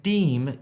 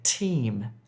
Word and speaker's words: team: Don't say deem if you're trying to say team.